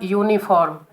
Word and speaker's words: uniform: Pronounce the word uniform. U, it is consonant sound, it is not a vowel sound.